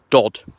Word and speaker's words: Dodworth: But yeah, Dodworth. Only pronounced right by Celia Drummond in the Keytex system.